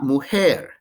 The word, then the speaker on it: mujer: el hombre the man la mujer the woman because spanish j is pronounced like in english h or strong h the woman then we